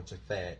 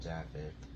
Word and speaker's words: Japheth: And Shem took his garment and arose, he and Japheth, or Japhet. Some people pronounce Japheth. Some people pronounce it Japhet. I pronounce it Japheth.